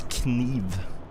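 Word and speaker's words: kniv: It's Kive. You do say the K.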